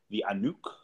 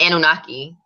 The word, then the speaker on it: Anunnaki: it about a specific kind of alien called via nuke I I butchered him because for years I just read